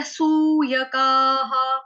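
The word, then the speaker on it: अभ्यसूयकाः: उसके बाद है सूयकाः, सूय, सूय, यह पूरा, का, विसर्ग का उच्चारण हा।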